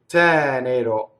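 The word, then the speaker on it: tenero: Lasciɔ, ttɛnero. So the accent is on the first syllable.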